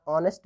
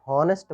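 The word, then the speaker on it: honest: ऑनेस्ट means, इसको हॉनेस्ट मत पढ़िए, इसको ऑनेस्ट पढ़ते हैं, एच यहाँ पर साइलेंट होता है।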